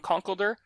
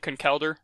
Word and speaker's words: Conkeldurr: pillars so I use I sometimes I pronounce it Conkeldurr but i-i've more recently adopted Cohn kelder so no that's a